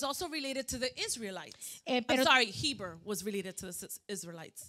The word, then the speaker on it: Heber: Heber.